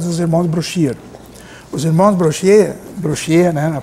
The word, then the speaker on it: Brochier: Os irmãos Brochier, né, na pronúncia certa.